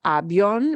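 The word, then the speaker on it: avión: syllable it's different right the accent mark happens because we're splitting up the I and the o e on oh we want more punch on the o and therefore it's got to split that up Avion right we're not saying it's Avion airplane Avion right uh somebody says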